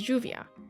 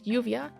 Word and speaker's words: lluvia: a J sound as lluvia. However, in other places, it can be said with a Y sound such as lluvia, and in Argentina and Uruguay, it's pronounced with a SH sound as lluvia.